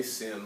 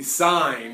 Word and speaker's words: sine: SI in you know please don't say sin I might pick on you a little bit all right it is the sine of angle a alright it is spelled